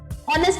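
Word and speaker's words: honest: नेक्स्ट हमारा होता है ऑनेस्ट, ईमानदार, ऑनेस्ट में कौन सा साउंड आ रहा है, ओ से आ रहा है ना साउंड। ऑनेस्ट में कौन सा साउंड आ रहा है, ओ से आ रहा है।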